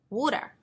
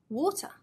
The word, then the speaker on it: water: better American better British water American water British what happens to the T sound there that's right it becomes more of a D sound so in standard British